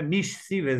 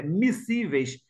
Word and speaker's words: miscíveis: Esse S não pronuncia, né? Não é miscíveis, é miscíveis.